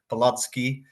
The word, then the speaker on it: Palacký: Just to correct the pronunciation, your pronunciation of the university was perfect, Palacký, but the city's pronounced Olomouc.